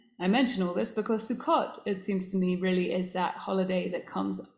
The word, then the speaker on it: Sukkot: So Sukkot, which is also known as Sukkot, same word, different pronunciation, is in English sometimes called the Feast of Tabernacles from the Greek, or the Feast of Booths.